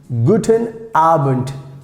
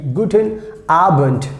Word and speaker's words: guten Abend: useful like guten abend guten arbent guten albert uh sometimes like most of times we pronounce like t this d if it comes in the end so we pronounce like t guten arbent guten arbent that means